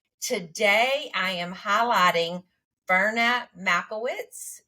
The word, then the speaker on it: Majewicz: Today, I am highlighting Ferna Majewicz. Did I say it right? Close. Majewicz. Majewicz.